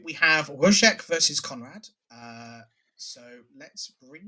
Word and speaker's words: Wojciech: I mean, I think his name is actually pronounced Wojciech. Wojciech.